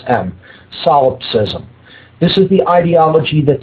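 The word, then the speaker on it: solipsism: lie and that is the ideology known as solopism. That's spelled S O L I P S I Sm. S O L I P S I S SM. Solopsism.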